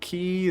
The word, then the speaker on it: quay: Okay, this is the quay, which is clearly how that word should be pronounced. So let's go into the quay. Listen, if you want me to pronounce it key, then you gotta change. Okay, I'll meet you halfway. Quay. I'll call it quay. And if you want me to say key, you know, it's that's a bridge too far, my friend.